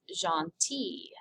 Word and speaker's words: gentille: Gentil, if it ends with an L, the feminine is gentille. Pronounced the same, but double L-E.